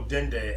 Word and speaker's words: dendê: So dendê, epo, is a lot of energy in that, and a lot of I'll try to explain. So dendê, that's how you say it in Brazil, correct? Dendê.